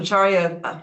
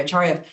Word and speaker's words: Acharya: Amitav Acharya, I said it wrong, I'm sorry, Acharya, he didn't want to, right?